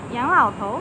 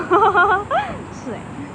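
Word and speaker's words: 洋老头: OHHO~ Wrong pronunciation: yang lao tou (means old foreigner) Correct pronunciation: yang lao tu.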